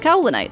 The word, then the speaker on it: Kaolinite: to call it, that she's actually named after a mineral called Cowlinite, so I've been pronouncing her name wrong the whole time.